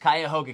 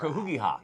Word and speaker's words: Cuyahoga: And Amanda pronounced Cuyahoga County how? I don't remember. Cahugiha.